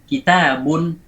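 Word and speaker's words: كتابٌ: Jadi tanwin itu hanya ada pada pelafalan, tidak ditulis. Ada, suaranya ada tapi tidak ditulis. Waslan la waqfan. Ingat ya, waslan la waqfan. Hanya ada pada wasal. Misalnya kitabun unzila ilaika.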